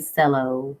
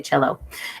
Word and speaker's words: cello: in a chair you also must pronounce that word cello do not say cello that does not that's not it you gotta say cello and the string bass